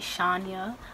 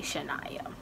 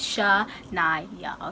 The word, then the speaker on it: Shanya: Like, people pronounce it Shanya, but it's actually Shanya. So when you see the name down below, it's not Shanya, it's Shanya.